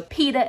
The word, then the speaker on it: Peta: Okay, so Peta is Colonel Mustard. I say Peta because that's the way it's pronounced. That's the way Lois always pronounced it. Peta. So Peter.